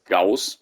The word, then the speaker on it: gauss: the way i think all of the ghost weapons are should be pronounced as gauss but uh for me